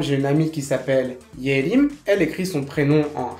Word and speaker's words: Yerim: Par exemple, j'ai une amie qui s'appelle Yerim, elle écrit son prénom en hanja de la manière suivante. Le premier caractère se prononce Ye et signifie la clarté, l'intelligence. Et le deuxième se prononce Rim, qui signifie la forêt.